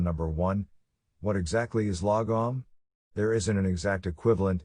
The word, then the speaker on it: lagom: dot the core idea the word logom pronounced lagom is a swedish concept